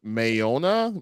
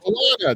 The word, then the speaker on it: Moana: and a liveaction uh mayona may I could never say her name correctly Moana Moana Moana that's it butchard yeah whatever so